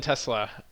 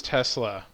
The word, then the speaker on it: Tesla: And then Tesla. It's actually 3 syllables.